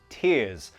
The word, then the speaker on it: tears: Sometimes you'll hear it tear, like it's one flat sound, and other times you might hear tears. It might have those two sounds, tia, tear. Doesn't matter how you pronounce them, everyone understands it. Just be careful not to pronounce it like tear.